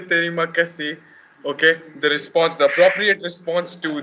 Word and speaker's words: terima kasih: Terima kasih Jose. Terima kasih, Yaya. Terima kasih. Sama-sama. Sama-sama, people. And when you say terima kasih, okay, the appropriate response to that would be Tik.